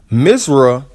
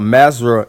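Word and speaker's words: مصر: Mizra, Arabic pronunciation, is the classical Quranic Arabic and modern official name of Egypt, while Masra, Egyptian Arabic pronunciation, is the local pronunciation in the Egyptian Arabic.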